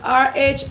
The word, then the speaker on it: rhizomes: Google, please pronounce R-H-I-Z-O-M-E-S.